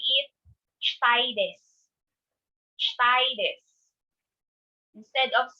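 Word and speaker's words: です: Even though it is pronounced as desu, or sorry, it is spelled as desu, it should be pronounced as des.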